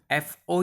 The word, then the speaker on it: FO: So FO unit, that is FO pronounced as a O and not as a zero, that you have to remember.